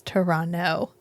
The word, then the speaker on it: Toronto: showed it to us it's Toronto you don't say the second t sure sure it's fine